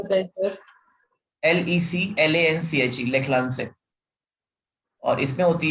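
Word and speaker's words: Leclanché: और secondary sir battery, थोड़ा spelling बताएं सर। LECLANCHE, लेखलांसे।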